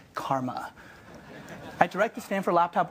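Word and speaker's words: CCRMA: way that she ccr8 and is pronounced Karma I direct the Stanford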